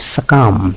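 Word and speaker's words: succumb: সাকামের ক্ষেত্রে এটি একটি সাইলেন্ট ওয়ার্ড।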